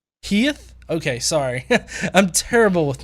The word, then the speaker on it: hiith: It's pronounced hiith. Heath?